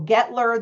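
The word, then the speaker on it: Guettler: Um my name is Gettler. The u is silent, so that's.getler pepperdon.edu or you can call or text me.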